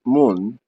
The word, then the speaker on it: mun: This phrase is usually abbreviated by using the first letter of each of the words, mem, nun, mem nun, and is pronounced mun.